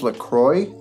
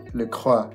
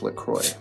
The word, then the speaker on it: LaCroix: And it's pronounced LaCroix. The name is French, Le Croix.